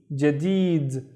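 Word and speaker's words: جديد: Il, and then thawb, il thawb, the thawb, and then the second word, we have the first syllable of it is ja, and then deed, jadid, and jadid means new.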